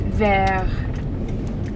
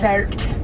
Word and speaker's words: vert: lesson in the car you gotta remember don't usually pronounce the letter at the end of the word unless there's an e after it so this one is just ver instead of vert we dropped hot off